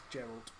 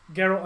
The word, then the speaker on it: Geralt: and that's with a hard G. Okay. Geralt. Okay, so when you say my name, it's Geralt, not Gerald.